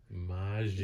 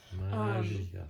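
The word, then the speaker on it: Maggia: Magia. Yes, I have to remind you of that now because the Spider-Man game taught us we've been pronouncing that wrong the whole time. Magia.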